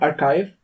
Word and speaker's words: arXiv: So, you know, archive. Mm-hmm. So that is spelled as?